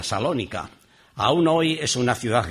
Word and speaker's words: Salónica: ciudad moderna de Tesalónica, que hoy es salónica, se le quita la la primera sílaba T, que en griego pues es precisamente así hoy día, salónica.